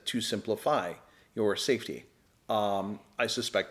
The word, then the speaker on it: SimpliSafe: And I will interject and say it is spelled simply. S I M P L I S A F. simplify. There's no there's no why in simply but it's like simply safe.